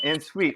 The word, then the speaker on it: en suite: here with uh actress writer and director of en suite right that's how you say it it's on